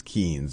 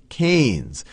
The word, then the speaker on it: Keynes: right here is a picture of John Maynard Keynes and I often mispronounced him as Keynes because that's how it's spelled but it's John Maynard Keynes and he was an economist who did a